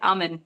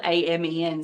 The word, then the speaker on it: Amen: I think that's how you say it, Amen. It's spelled A-M-E-N, so like, Amen.